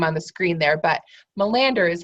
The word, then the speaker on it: Melander: Malia say your last name one more time Melander that's it Melander and you guys can see her name on the screen there but Melander is how you say the last name there